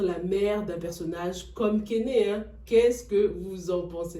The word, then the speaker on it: Kenne: Déjà, ça ne se prononce pas Kené, mais Ken, comme Barbie et Ken.